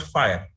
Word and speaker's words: FHIR: is called uh fire pronounced as fire but it's spelled as